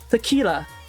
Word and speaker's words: tequila: english name isn't it the kia no but the l is not silent tequila noel is it what is the meaning of uh spanish tequila tequila i mean okay so is i emphasize that you too long it's not turkey it's not tequila because i pronounced the i but it seems like the i was much faster so it becomes tequila so yeah how convenient the